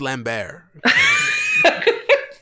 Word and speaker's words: Lambert: here or Christopher Lambert let's pronounce lamb bare ladies Scottish don't forget it okay